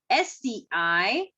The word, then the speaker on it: scissors: After that, the last word, if I say today with the C silent, is scissor. SCISSORS.